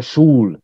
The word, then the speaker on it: Sol: Yeah, Sul, we write Sol for you, S-O-L, but you pronounce the ring in root language always as U.